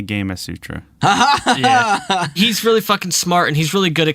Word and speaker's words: Gamasutra: want to pronounce it Gamasutra I thought it was gamasutra like Kama Sutra but it is apparently game a Sutra haha he's really [